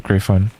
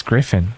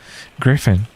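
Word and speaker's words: Gryphon: It's Griffin. Okay. Like Gryffindor, I guess. Griffin.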